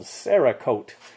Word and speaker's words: Cerakote: there's a product called Cerakote. Cera is spelled, it's Cerakote with a C-E-R-A, as in ceramic, and then hyphen K-O-T-E, and you've probably heard of it.